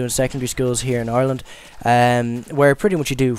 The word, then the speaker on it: Ireland: Well, first of all, if you couldn't already tell, I am from Ireland, or so many of you like to say Ireland. I don't know where you fabricated that third syllable from, but it's just something